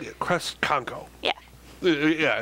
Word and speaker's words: Kresconko: Kresconko.